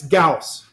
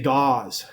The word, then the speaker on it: Gauss: gaus a lot of people see it and pronounce it wrong it's gaus I've heard people say gauze but it's Gus make sure we're clear on